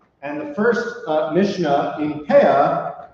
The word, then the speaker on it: peah: the Mishnah known as Peah. Peah is referring to the corners of the field. So like if you've ever met someone who wears payas, that's like an Ashkenazic pronunciation of like the word peah, because there's the corner of your hair.